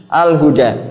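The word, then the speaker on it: الهدى: Alhuda panjang nanti bacanya karena ada alif bengkong ya. Ada alif bengkok di sini. Alhuda.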